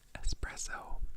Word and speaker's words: espresso: both suggested Skyler McCormack and Michelle have suggested espresso espresso espresso isn't that sweet I guess so